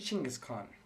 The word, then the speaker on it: Chinggis Khan: So the Mongolians actually laugh at anyone else who pronounces it as and spells it as Genghis Khan. So it's actually Chinggis Khan.